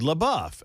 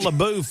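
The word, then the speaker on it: LaBeouf: Labbuff. It's not Labou like Jackson was saying. It was It's Labou.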